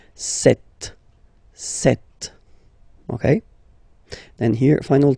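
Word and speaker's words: sept: Then here, remember, p is not pronounced, okay? It doesn't exist, so you get this set sound. Set, set.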